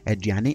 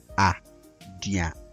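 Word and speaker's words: aduane: Eduane is spelled a-de-u-a-n-a, but we don't say a-diane, we say eduane, eduane.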